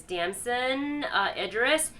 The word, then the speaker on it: Damson Idris: So I love seeing that, but I also can't wait to see, I think how you say his name is Damson Idris, in way more things, because his performance is also incredible.